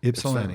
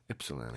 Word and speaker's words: Ypsilanti: I was wondering how you say Ypsilanti. Was I punched it into my GPS? So I was like, I wonder if that Y is silent but yeah. Ypsilanti. Yeah. That's how we say it. Ypsilanti.